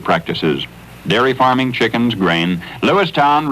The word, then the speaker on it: Lewistown: dairy farming chickens grain Lewistown remember to pronounce it town as grad shedding its